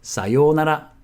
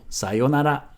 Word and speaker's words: さようなら: If you look it up on the internet, you'll probably find さようなら, さようなら, さようなら. Or sometimes you also hear it with a short yo, さよなら, さよなら.